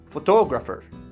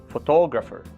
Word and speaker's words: photographer: Let's take three words: photograph, photographer, and photographic. Do they sound the same when spoken? No, because we accentuate, stress one syllable in each word, and it is not always the same syllable. So, the shape of each word is different.